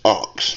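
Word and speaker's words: Ochs: his last name is spelled o c h s but it is pronounced ox that's what he said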